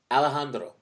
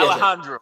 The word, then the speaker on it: Alejandro: hold on, Alejandro. Exactly. Yeah, Yes. Alejandro. Yeah, right, Alejandro. And you think No. Alejandro? Friends, say it like you respect the culture.